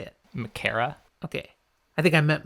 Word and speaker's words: Machera: All right, so this man who has now welcomed them in, Elias Makera. He has... Makera? That's how I say it. How do you say it? With more of a Machera? Mashera.